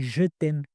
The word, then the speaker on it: jeux thèmes: J'ai appelé ça, tiens-toi bien, les jeux thèmes. Ok. Jeux J-E-U-X. Hein. Ah pardon, j'ai oublié d'applaudir. Bravo. Tu as quand même compris que ça se prononce comme je t'aime, la conjugaison du verbe aimer.